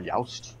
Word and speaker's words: Joust: play uh johann sebastian joust or yaust because it's swedish and i don't pronounce the js that's um that was